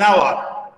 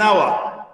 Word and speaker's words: hour: لو لاحظنا يا شباب هنا ان الاتش حرف ساكن بس ما تنطق، احنا نطقنا من اول الاو، يبقى احنا بنتعامل على ان الاو حرف متحرك، فهنقول an hour an hour.